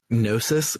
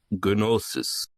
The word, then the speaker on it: Gnosis: trying to find Gnosis with a silent G in English. It does not have a silent G in Japanese, apparently. Yeah, if you listen close to the voice acting and don't just tab through the box as soon as you finish reading, which is what you usually do, you might notice that they're all pronouncing it Gnosis. So, Gnosis, silent G be damned.